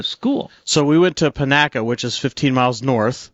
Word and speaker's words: Panaca: So we went to Panaca, which is 15 miles north. Okay, is that how do you spell that? Pinaca is Panaca. Oh, Panaca.